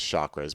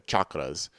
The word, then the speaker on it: chakras: Always mispronounced. Everybody always says chakras, but they're chakras. If you're actually going to use the Sanskrit word, but that is from